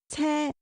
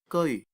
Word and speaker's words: 車: You may learn the character 車 from the previous video, but be noted that it does not pronounce ce1 in this idiom, but have to pronounce geoi1.